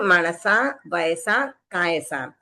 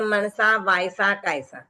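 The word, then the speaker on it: मणसा वयसा कायसा: और न कारवेमी फिर मणसा वैसा कायसा तो कासा में सिर्फ ता है बाकी में व य मण तो बहुत सारे लोग कर देते हैं मनसा वसा कासा तो ये फ्लो फ्लो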